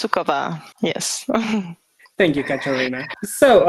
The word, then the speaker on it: Sukova: our guest for today say hello to Katerina suya I hope I didn't mispronounce it or anything hi so it's pronounced sukova yes thank you Karina so um tell me